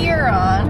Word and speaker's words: Huron: Huron. I keep questioning if I'm saying it correctly. You're saying it perfectly. Huron.